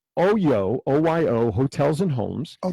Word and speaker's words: OYO: So they sold it for $135 million to OYO, is the way I'll pronounce it, or for us Jews, OYO.